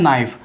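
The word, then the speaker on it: knife: उसके बाद आता है नाइफ, नाइफ में के साइलेंट रहता है, ठीक है आप कनाइफ ना बोल करके नाइफ बोलिए, इस तरीके से नाइफ, ठीक है नाइफ, चाकू बोलते हैं, ठीक है केक साइलेंट रहता है, के को नहीं बोलना है, नाइफ खाली बोलना है आपको।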